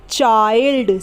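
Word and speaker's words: child: ए आई पढ़ने हैं जैसे क आई ल दी अब इसमें आई है और आई के बाद क्या ए रहा है ल दी ए रहा है तो यहां पर हम आई को ए आई पढ़ेंगे चाइल्ड सी हा आई ल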